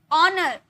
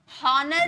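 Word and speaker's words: honour: से हम स्टार्ट किए ऑनेस्ट आव आव बोले हावर नहीं बोले आव ऑनर हनर नहीं बोले ऑनर ओके तो जब एच के बाद ओ आता है तो ये साइलेंट रहता है चुप बैठा है उसके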